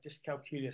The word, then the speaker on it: dyscalculia: I always, for me, when I first started to hear about dyscalculia, I had to sort of keep thinking of it rhymes with Julia. We also have on our website a dyscalculia specialist directory, and this